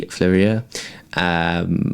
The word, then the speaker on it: Fleurier: Fleurier? Yeah, there you go. Quality Fleurier, which was again really nice, really clean, simple, elegant watches.